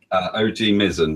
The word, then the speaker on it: OGMizen: I am here with OGMizen, and did I pronounce that correctly? OGMizen, but it's fine.